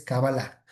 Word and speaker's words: cabalá: Otro es la cábala hebrea, o claro que le decimos cábala en español, pero la pronuncia correcta es cabalá.